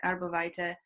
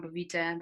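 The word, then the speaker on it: arborvitae: And some of those oils like arbovitae or arbovitae, the different pronunciation, on its own is very also good to be used as a natural insect repellents.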